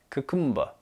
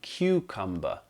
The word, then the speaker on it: cucumber: And I've heard people say cucumber or cucumber, which is not correct. It's actually cucumber, cucumber.